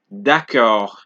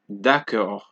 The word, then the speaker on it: d'accord: Example: froid, chaud, d'accord, right? For D, froid, chaud, d'accord. So it's not froide, it's not chaude, it is not d'accord. It is froid, chaud, d'accord. Because at the end of the word, you do not pronounce the letter T.